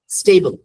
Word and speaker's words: stable: STABLE, স্টেবল, স্টেবল, স্টেবল, সাউন্ডটা শুরু হবে দিয়ে, ঠিক আছে? অনেকে কি করে, এটা ভুল উচ্চারণ কি, স্টেবল। স্টেবল আগে একটা ই সাউন্ড চলে আসছে, খেয়াল করছেন?